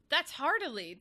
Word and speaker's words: Heart1lly: But then upon like second glance, it's like, oh no, that's Heart1lly. There is no L before that.